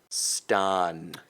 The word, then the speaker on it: Stan: So if you're looking at the IPA form, the linguistic form, it's the A backwards E. So man, Stan. Not Okay. necessarily Oppy British, but Right. very standard American pronunciation, almost New England.